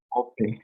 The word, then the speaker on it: ope: Y O suena grave, ¿no? Ope.